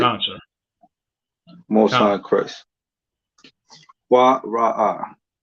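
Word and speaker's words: קרא: So how would you pronounce that in the Hebrew? Quara'a. It's lucky. I was looking at the wrong one. It's lucky. That's correct. Quara'a.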